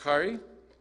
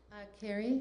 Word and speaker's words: Carrie: So The Strange Birds is composed of, is it pronounced Kari? Carrie.